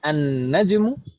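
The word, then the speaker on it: النجم: An-najmu al-qamaru. Gitu kali saya. Bukan al-qamaru. Al-qamaru. Di sana juga beda cara bacanya. An-najmu. An-najmu. Langsung idgham.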